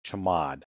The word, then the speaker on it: chmod: CH hm o d it's usually pronounced chamod what in the world's a chamod what does chamod mean chamod is short for change mode you may remember